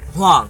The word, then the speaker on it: Huang: It's Huang. It's Huang. one syllable.